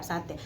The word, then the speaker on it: satai: e a sate tulisannya kalau kita baca s a t a i satai Tapi bacanya tetap sate ini juga pernah terjadi